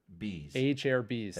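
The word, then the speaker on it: Acerbis: FMF gnarly FMF 2.1 how do you say this again a cheris a cus a CH a Cher a a chair bees a chair bees thank you a thank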